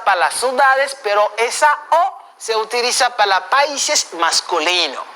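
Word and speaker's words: aux: Le O se pronuncia O, la X no suena. Eso se pronuncia O y también eso pronuncia O. La única diferencia se hace solamente al escribir, de manera escrita. Pero si va a seguir un vocal, la X sí va a pronunciar.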